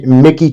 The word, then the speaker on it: Michie: Mickey, Tennessee. People think it's spelled Mitchie, but Mitchie. Yeah. Mickey. It looks just like Mitchie on paper, yeah.